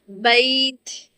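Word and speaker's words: بيت: Now we go to the bait, bait, bait, bait. This sound is only happened when the ya have sukoon and we proceed with fatha with ya-leen.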